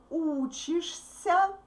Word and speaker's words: учишься: Ты учишься. Here it's a pretty difficult consonants combinations. Sh-ся, sh-ся. You need to move from sh to s. Sh-ся. Учишься.